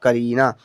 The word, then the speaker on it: करीना: ए आर आई एन ए इसे हम पढ़ेंगे करीना के से का होता है ए साइलेंट आर से र आई से बड़ी की